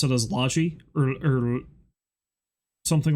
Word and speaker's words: Logie: But most things like that, I always heard it pronounced Logie Bay Road as... Logie is called Laji, yeah.